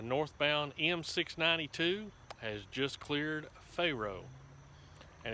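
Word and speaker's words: Fero: m692 has just cleared pharaoh and it's spelled f-e-r-o uh but everybody i've ever known that lived around here always pronounced it uh pharaoh like the egyptian pharaoh and that coal train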